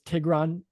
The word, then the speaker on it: Tigran: say your name is Tigran. Is that pronounced properly, or Ti- did I accent anything? ti- uh, what you said, or Tigran, so putting the Tigran. accent in the beginning also works too.